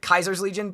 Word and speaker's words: Caesar's Legion: which also in Fallout, isn't it Kaiser's Legion? Because they don't like to say Caesar because they didn't understand how to say it.